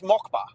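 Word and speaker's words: Москва: How do you No, it's Mockba.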